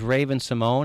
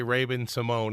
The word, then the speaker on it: Raven-Symoné: Well, it is because I do tend to mispronounce words every now and then, and I did say Raven-Symoné instead of Raven-Symoné.